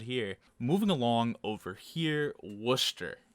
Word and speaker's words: Worcester: moving along over here worcester you don't say this war chest or anything i think it's just worcester the people there will